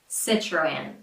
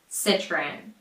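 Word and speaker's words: Citroën: In the US, the majority of people say Citroen, which is very close to the original pronunciation, just with the American short I and R, of course. So I stick to it. Citroen. Citroen.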